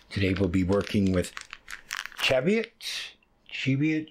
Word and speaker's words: Cheviot: we'll be working with Cheviot chevio Harvard's pronounced I believe it's Cheviot that's the way most people say it so um again